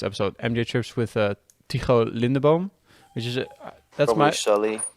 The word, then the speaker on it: Lindeboom: mj trips with uh lindebon which is a that's my people my name is is very hard to pronounce in most languages besides dutch so yeah no one's